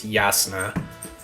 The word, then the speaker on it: Jasna: Her name is spelled like Jasna, but it's Yasna.